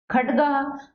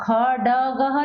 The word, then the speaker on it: खड्गः: खड्गः, अब खडगः नहीं पढ़ेंगे, ड आधा है तो खड्गः।